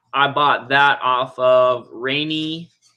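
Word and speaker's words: Raney: So the stack, I bought that off of Rainy. I think that's how you pronounce it. Rainy, R-A-N-E-Y, right? Rainy.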